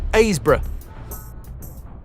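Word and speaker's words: Happisburgh: Hapisburg pronounced Abbrra.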